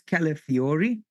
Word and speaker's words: Calafiori: Yeah, I didn't want to say his name wrong. It's Calafiori.